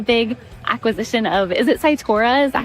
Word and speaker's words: Cytora: just had a big acquisition of is it Saitura? Is that how you pronounce it?